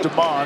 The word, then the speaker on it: Demon: Spelled like Demon. It's pronounced Deman and no Deman or Demon Hunters on the Syracuse defense tonight.